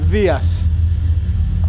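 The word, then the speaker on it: Δίας: Would you correct my pronunciation of Greek words that Americans say wrong? Like, how do you say Zeus in Greek? Dias.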